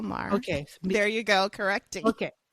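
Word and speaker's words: Maher: stuff people like bill Mayer for example like you don't you never it's Bill Mah it's Bill Mah there you go correcting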